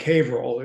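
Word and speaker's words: Haverhill: Most likely it's like Haveril.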